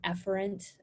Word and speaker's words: efferent: so similar but afferent I pronounce it efferent soft e that's the outgoing pathway whereas